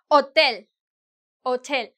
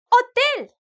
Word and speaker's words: hotel: oh, mira, hay un hotel. You're not going to say, oh, mira, hay un hotel. No, right? Because the H is silent, mute.